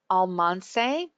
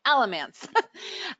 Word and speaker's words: Alamance: retreat uh in uh um I'm going to pronounce this right Alman yes alance alance Alamance Alamance Alamance okay Alamance uh in North Carolina and this was an